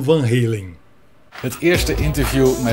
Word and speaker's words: Van Halen: holandês com a banda o apresentador principal falar Van Halen passa a bola para a entrevistadora e ela fala Van Halen nem os holandeses chegaram a um acordo eu ficaria com Van Halen esta entre Dilma e